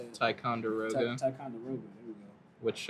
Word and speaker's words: Ticonderoga: Ticonderoga.